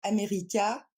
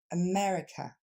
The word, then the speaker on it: America: fois police deuxème mot on ne va pas dire amériica mais on va dire America et on le décompose